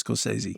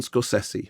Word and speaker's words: Scorsese: So you corrected my pronunciation. Scorsese. Yeah. Okay. Everybody says Scorsese. I know, and it's wrong. They're all wrong. Okay, so now we are corrected. The correct pronunciation is Martin Scorsese.